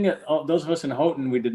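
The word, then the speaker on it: Houghton: but it's pronounced like most Michigan people do hoton um but anyway spell it spell that please h o u g h t o n hoton Michigan okay so some people would pronounce it hufton but you're say yeah if you weren't if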